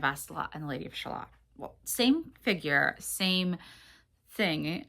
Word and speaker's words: Shalott: And side note, some people pronounce it Shalott, some people pronounce it Shallot. I usually say Shalott because, first of all, it's spelled differently than the little vegetables, the springtime vegetables, like the green onions. Shallots are 2 L's, 1 T. This is 2 T's, 1 L.